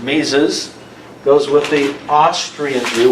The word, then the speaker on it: Mises: monetarism and this fellow ludwig von mises that's how you pronounce it mises goes with the austrian